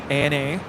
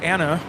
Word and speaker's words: ANA: the pawn Airways is an acronym as well Ana so it's not Anna I've never heard anybody say Anna so it' be right with Eva then it